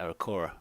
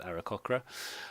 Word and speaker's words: Aarakocra: gonna start with the era khakhra I used to always pronounce the era Cora but there is actually a C in there so I'm gonna go in era khakhra and they are a